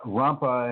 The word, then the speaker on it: Rampa: Lobsang, L-O-B, B as in Bob, S as in song, A-N-G, Lobsang, Rampa, and Rampa is spelled R as in Robert, A as in Apple, M as in Mary, P as in Paul, A as in Apple.